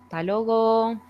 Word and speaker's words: hasta luego: this one is that the first word loses the first part only the TA remaining and then the the U and the E on the second word they're joined together and they turn into an O so this will sound something like talogo a logo okay so it doesn't really sound hasta luego that will sound more like the logo hey and okay and